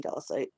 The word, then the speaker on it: Dallasite: So that's also Dallasite, but green Dallasite. That's cool. How do you spell that? Dallasite. Okay, so like Dallas, Texas.